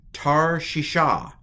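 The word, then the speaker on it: תרשיש: and a Sheen um and a hay so tar shisha any guesses to what that word is tarshi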